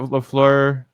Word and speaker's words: LaFleur: I knew Matt LaFleur, right?